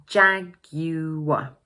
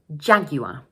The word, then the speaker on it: Jaguar: to pronounce is this: This word has three syllables Ja-gu-ar, and the first one is stressed. Ja-gu-ar Notice that like in